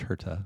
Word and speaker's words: Herta: Yeah, the Mexican wants to say herta. It's pronounced herta.